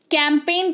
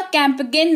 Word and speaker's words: campaign: फिर देखो क्या है, CAMPAIGN, कैंपेन कहलाएगा, कैंपगेन नहीं कहलाएगा, क्योंकि जी के बाद एन लगा हुआ है।